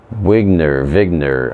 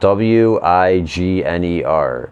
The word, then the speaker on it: Wigner: Eugene Wigner, I don't know, it's spelled W-I-G-N-E-R. A lot of times people like to pronounce W's as V's.